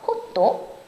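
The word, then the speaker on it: ホット: 뜨거운 건 원래 영어 핫에서 왔는데 호도라고 발음을 해요. 그래서 호또 또 아이스는 그대로 아이스예요.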